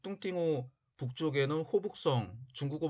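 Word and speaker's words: 洞庭湖: 하는데, 호광이라고 하는 지역은 현재의 동정호, 중국어 발음으로 뚱띵호를 중심으로 한 지역을 뜻합니다. 지금은 동정호, 즉 뚱띵호 북쪽에는 호북성, 중국어 발음으로 후베이성이 있고, 남쪽에도 호남성, 중국어 발음으로 후난성이 있습니다.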